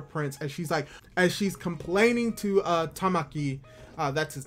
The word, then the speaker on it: Tamaki: to see her prince, as she's complaining to Tamaki, that's his name, I've been saying it wrong, Tamaki, about how he should be trying to help,